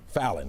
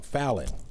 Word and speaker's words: Fallin: Fallin, I'm saying it wrong. Fallin.